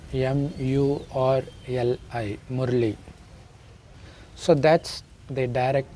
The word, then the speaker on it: Murli: It is spelled M-U-R-L-I, Murli.